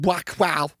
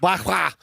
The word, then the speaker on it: Buakaw: Number one, for those of you who are only MMA fans, Saenchai and Buakaw that's how you say his name. Buakaw.